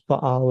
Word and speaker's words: Baal: It's actually this is baal is the correct Hebrew pronunciation.